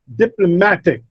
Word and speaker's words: diplomatic: syllable receives the stress, as in diplomatic. Now, it is not diplomatic. It's not diplomatic, it's diplomatic. Ma, the third syllable receives the stress. And dip, the first syllable receives the secondary stress. The primary stress is on ma.